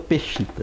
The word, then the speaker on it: Peshitta: Pode ser Peshitta ou Peshita, né? Peshitta. Porque é uma transliteração, então...